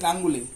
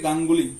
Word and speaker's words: গাঙ্গুলি: এরপর রয়েছে গাঙ্গুলি, ই কিন্তু আমরা দীর্ঘই বলে ফেলি, তো এর জন্য বলি গাঙ্গুলি, তো গাঙ্গুলি নয়। তো এই দুটি আমরা এখানে দিলাম, দুটি চেয়েছে উদাহরণ।